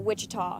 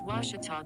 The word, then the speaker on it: Ouachita: at a baptist university back in texas everybody pronounces it wichita but really it's ouachita washington washington how would you pronounce it it's washita baptist university get it right it's washi tall